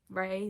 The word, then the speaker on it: Rae: And then I learned about it, and then I was like, hey, it works, and it rhymes with my name, Ray, they, it works.